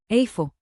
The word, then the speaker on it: איפה: Today's magic phrase, where is, which in Hebrew is, Afo.